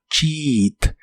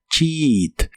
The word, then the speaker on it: cheat: Las letras EA de esta palabra se pronuncian como una I larga o doble y suena como cheat, cheat.